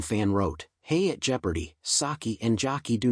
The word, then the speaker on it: sake: one Reddit user wrote does literally anybody pronounce saki to rhyme with jockey another wrote I've heard SA key and Sack key as well but to my